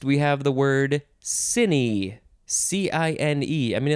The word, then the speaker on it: cine: have the word cine c-i-n-e i mean it looks like the word sign but no it's cine noun from 1920 we